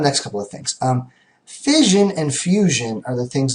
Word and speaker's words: fission: so when you see the word fion okay pronounced sort of like if you had an accent on on fishing okay fision um what fision is is the splitting okay